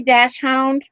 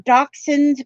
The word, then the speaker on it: dachshund: And we say dash hound. They're a dachshund, but it's spelled. They're German, actually.